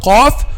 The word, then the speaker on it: ق: Okay, so we pronounce letter Qaf from the deepest part of the tongue, from the deepest part of the tongue. Okay, the back of the tongue. So the back of the tongue touches what lies opposite. The back of the tongue touches what lies opposite, which is what? Aq. Aq. Which is the soft palate.